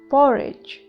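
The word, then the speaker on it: porridge: दलिए को इंग्लिश में कहते हैं पॉरेज, पॉरेज, डी साइलेंट है।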